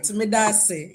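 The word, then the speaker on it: Medaase: I was saying Medase, and I was asking if I am correct. Oh, Yes, you are correct. And you said it right, Medase.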